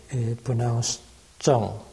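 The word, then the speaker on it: 郑: Zheng Zhong, Zheng, Zheng, 点点，横，横。撇点, so that's guan instead of zheng, but plus this radical yi on the right, it pronounced zheng.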